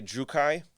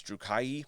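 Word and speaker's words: Druchii: this is one that the pronunciation is kind of weird uh i i say drukai i've been told at different times this drew kai because they're two eyes at the end d-r-u-c-h-i-i um at first i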